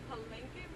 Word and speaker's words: Palenque: Palenque, boy.